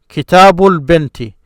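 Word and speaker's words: كتابُ البنتِ: Notice this bull here. This is what you hear. That's why I will join these. So this ba, bull. This is silent. This L from the definite article, because of this moon letter, this ba is pronounced, so you hear it.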